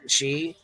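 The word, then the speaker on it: Xie: his name is Hong his name is Hong shei is that what that's called am I saying that right she is that right H she yeah that's how you pronounce that that x i e yeah okay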